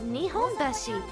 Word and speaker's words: Nihonbashi: You're thinking of Nihonbashi.